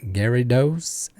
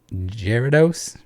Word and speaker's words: Gyarados: bit different for example while in the us they call gyarados like gary dos here it's more like jerry jeridos and i don't mispronounce